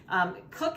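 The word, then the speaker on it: Koch: Cook is spelled K-O-C-H. We pronounce it Cook.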